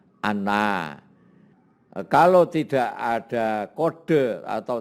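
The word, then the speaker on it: أنَّ: itu kitabnya ada tandanya kalau ada Hamzah dibawa Alif ini Ina kalau di atas itu bacanya Ana Kalau tidak ada kode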